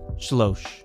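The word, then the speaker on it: שְׁלֹשׁ: straightforward shalosh three absolute shlosh three construct the only difference here is the Comets reduced to a Shava in feminine it's got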